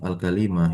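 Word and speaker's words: كلمة: Luhu perkataan musonif alkalimah hiya bifathil kaf ya dengan memfathahkan kafnya ka alka begitu. waril lam dan mengkasrahkan lamnya kali kali wafiha lughatan dan dia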